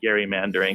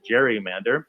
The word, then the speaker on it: gerrymander: in the past so which is right jerry or gary we are long past the pronunciation gary mandering in any attempt to make us go back to that pronunciation would be a mistake nearly the entire world says gerrymander so say gerrymander like the entire world i said you know everyone and i mean everyone says gerrymander she said everyone is